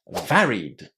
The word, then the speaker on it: varied: Because of that, we're not going to add any extra syllables when we attach the ed to it. We're just going to say vary, the infinitive, and add d. Varied.